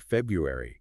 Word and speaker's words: February: worth it you know the word comes from the Latin februar which referred to a Roman purification festival and over time the pronunciation evolved but that first R stuck around wow so even a